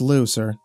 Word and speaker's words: Liu: rest of his life that's pronounced looser just spelled weird lou counted down the